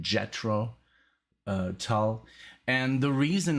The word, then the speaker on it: Jethro: amazing they're going to be from the band yetro tal or jet rotel um i really i looked it up how to pronounce it and i'm it said i know